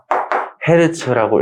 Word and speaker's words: Hz: 하고요 단위는 참고로만 알아두시면 h g를 써서 헤르츠라고 읽어요 이런 거지 만약에 이해를